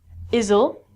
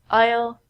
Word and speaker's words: isle: also sound like this the s in these words are so we don't say izle and I so we say Isle Isle Isle this Isle is